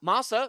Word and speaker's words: Masa: Now, Masa rhymes with vasa, which is a parrot native to the island of Madagascar. And Mune, which sounds like a Canadian boy looking up at the nearest celestial body to Earth.